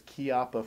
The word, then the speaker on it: Chiappa: Now, first and foremost, I want you to note the name of the company, even though it's spelled CH, is actually pronounced like a K. So it's Chiappa Firearms.